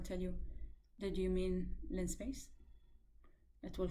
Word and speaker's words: linspace: you that you mean linspace it will correct you on how to spell it a common mistake is to say line space it's not actually line space it's lin space linearly spaced vector okay this is all